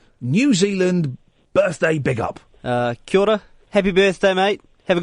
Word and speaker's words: Kia ora: We say Kia ora. Kia ora. Because that's the official that's the proper pronunciation.